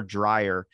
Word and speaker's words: Dryas: right, is the Younger Dryas impact hypothesis, which is Dryas. Like, dry. I knew I was gonna get it wrong. Dryas, kind of like if it was US, but it's actually AS, so it's Dryas.